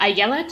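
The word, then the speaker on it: Ayelet: the linguistic skills uh AET is definitely how you pronounce her first name um Zur I guess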